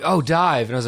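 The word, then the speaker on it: DIIV: like that band die they spell it di IV I'm like oh it's div it's like yeah you're making me say that word if you want to be dies at the right way I say div yeah yeah i-i've never referred to them as dive ever because it's not how it's spelled I didn't even know it was dive and so yeah I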